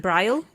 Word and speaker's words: Brylle: great to meet you I hope I'm pronouncing your name right is it bryle uh yes uh yes yeah exactly oh fantastic well I've